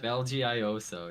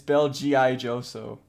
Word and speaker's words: Belgioioso: Belgioso. It's Yeah, Belgioso. it's Belgioioso.